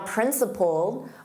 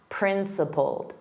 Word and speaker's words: principled: Now, principled, also notice the ED is pronounced as a soft D. And the vowel in the last sound is the same as you're saying pulled, pulled. In the past simple, pulled, principled, principled.